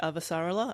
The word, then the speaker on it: Avasarala: You see, in the books, they always just say Avasarala, and because I listened to the audiobook, that's the name I know.